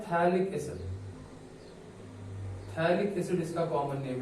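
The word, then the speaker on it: phthalic acid: थैलिक एसिड इसका common name है। P silent रहता है, कुछ स्टूडेंट्स पैथैलिक एसिड पढ़ते हैं, बट पी एक्चुअली साइलेंट रहता है, तो इसको थैलिक एसिड बोलते हैं।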